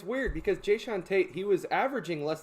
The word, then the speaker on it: Jae'Sean: Jae'Sean Tate.